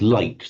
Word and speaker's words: light: Um and in through the Germanic stream the G became a sound was origin in modern English we pronounce light though we still retain the spelling li I g ht.